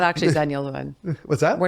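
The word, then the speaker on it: Xennials: Yeah, xylophone with the X. It's pronounced Zennials.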